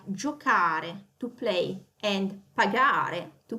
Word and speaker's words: giocare: Giocare, it's got a hard C. Okay, that's the sound that it has is the K sound, not the C sound.